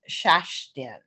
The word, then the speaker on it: Shashtin: And Yeah, my name is Swedish and it looks like Kirsten, but it's pronounced Shashtin.